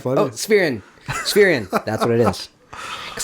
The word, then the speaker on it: Spherion: Spherion.